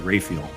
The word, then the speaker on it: Raphael: couple more here St Raphael the Archangel oh man a second born is named after him really uh yeah and actually I think I've heard people also pronounce it rayfiel M so what would